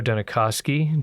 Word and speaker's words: Dunikoski: So, I'm really excited today our guest Danakoski.